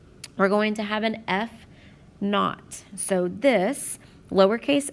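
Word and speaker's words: f₀: o and it's pronounced not this should be pronounced f naught but we are going to say that the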